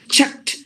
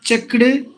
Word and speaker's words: checked: it should be noticed checked not checked now look at it no the Ed you just have to replace it with the T sound checked walked talked worked